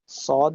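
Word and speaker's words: ص: স্বাধীন সুন্দর সার্বভৌমত্ব শিওর সদ সদ এর উচ্চারণটা একটু সিনের মত কিন্তু একটু মোটা সদ উচ্চারণ করার সময় আপনারকে কি করতে হবে ঠোট পুরো উপর নিচের সবদিকে ঠোট গোল করে চেষ্টা করতে হবে বাতাসটাকে যেন বেরতে কম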